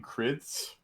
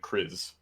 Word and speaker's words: Kriz: Some of us were pronouncing your name Krids, and I was calling it Kriz. Ah. So she was wondering which was the correct pronunciation from in Chris. your eyes. Oh, so just hard Z like Kriz.